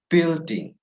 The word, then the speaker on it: building: Also in the word building, do not say building, but building. Silent U.